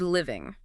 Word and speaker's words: living: Um, specifically the word living. Yes, living. It has a V sound in the middle.